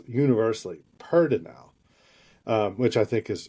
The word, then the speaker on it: pedernal: it for the first time are going to pronounce it Petronol because that's how it's spelled. But here it's pronounced universally pertinel.